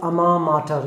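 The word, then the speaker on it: alma mater: और आज के सेशन का लास्ट इडियम मैं आपके सामने लेके आ रहा हूँ, दैट इज़ कॉल्ड अमा माटर। इसकी स्पेलिंग बड़ी अजीब है क्योंकि ये फ्रेज फ्रेंच लैंग्वेज से लिया गया है, अमा माटर।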